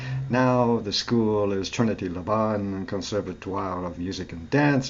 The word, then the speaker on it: Laban: Oh, Laban, thank you. Laban's See? a rhyme with carbon.